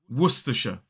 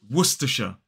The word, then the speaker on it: Worcestershire: It is Worcestershire. 3 syllables, the stress falls on the first.